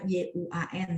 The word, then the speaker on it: 愿: 愿望 tulisannya adalah yuan ya. 愿望 bacanya yuan ya, 愿望.